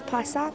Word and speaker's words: Plasak: Yeah, Miss Pa, and then a sock.